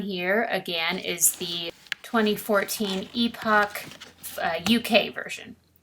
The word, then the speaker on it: Epoch: 2004 by epoch japan not epic but epoch i've been pronouncing it wrong and i heard a lady from epoch actually pronounce it correctly so then it came